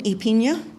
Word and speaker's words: Apina: And my name is Apina. It rhymes with pina coladas.